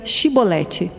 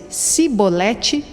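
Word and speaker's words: שיבולת: respondesse que não diziam Então diga chevrolete se eles dissessem cebolete sem conseguir pronunciar corretamente a palavra prendiam e matavam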